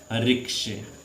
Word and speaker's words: ricochet: रिक्शे, रिक्शे एक ये लगा देंगे।